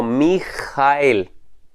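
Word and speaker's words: מִיכָאֵל: k m Cel pero en hebreo se pronunciaría como mijael es una pronunciación muy gutural Qué significa esta palabra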